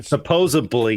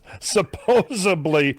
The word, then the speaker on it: supposedly: But supposedly you would. Supposably I would find a new producer. Yes. Someone is typing a comment right now. Hey, I say it that way. No. Okay. Well, don't.